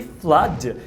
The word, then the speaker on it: flood: Exemplo, blood e flood. Essas duas palavras são pronunciadas com carrot, que é essa vogal aqui, ó.